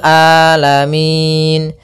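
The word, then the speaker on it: العالمين: mengalir kemudian di sini huruf Ain hati-hati jangan sampai merubah huruf ainnya menjadi Hamzah banyak yang terjadi kesalahan dalam pelafalannyaitu dengan Alif atau Hamzah maka dibaca rabbil alamin harusnya rabbil rabbil alamin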